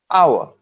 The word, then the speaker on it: hour: covered silent letters where h is a silent letter in a couple of words honest hour right because it's silent the first letter that we are pronouncing is o hour which is why it's an hour next one a used